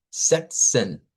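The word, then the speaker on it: sechzehn: Entonces, la primera parte es así como decir sech, se sech. Esa ch no es como la ch nuestra, es un sonido más suave. Y luego se agrega la terminación sent que es con una z, una e, una hn. Sex. Sexen. Entonces, eh suena como esta Z en realidad va a sonar como una TS, como la unión de una TS.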